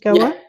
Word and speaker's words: Goa: Your mother was from Goa. Am I pronouncing it right? Goa?